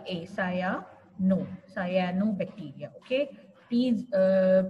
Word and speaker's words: cyanobacteria: they form hetrogeneous Group which include viruses bacterias cyano bacteria how do we pronounce it cyano c y a Sayan no cyano bacteria okay please uh pronounce it correctly cyanobacteria quickly uh we say CYO bacteria but we skip the pronunciation of a a